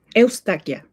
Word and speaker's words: Eustaquia: Is it Eustaquia? No, it's Eustaquia. Eustaquia. Okay, so Eustaquia.